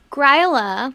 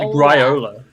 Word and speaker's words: Grýla: I keep wanting to say Grýla. You said Gryola.